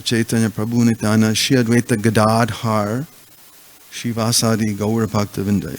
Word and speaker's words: Gadadhar: Actually, it's Shri Krishna Chaitanya Prabhu Nityananda Shri Advaita Gadadhar Shivasadi Gaura Bhaktavinda. It's not Gadadhara. It's a long A. The second second syllable is long.